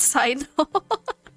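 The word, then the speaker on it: Cyno: So his name is pronounced Sino. For the longest time, I just read it as Sino. Apparently it's Sino.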